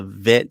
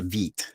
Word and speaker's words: Vite: for is uh the vit so vid is or actually it's pronounced veet uh and it said